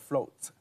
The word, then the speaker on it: Flownt: Okay, the second pieces is called Float. The float, the spelling is FLOWNT. The flow is like the flowing, and with the pronunciation of float is floating.